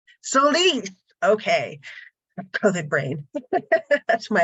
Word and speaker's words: Solis: say your last name again I'm so sorry soise soise okay Co brain that's my excuse um Marita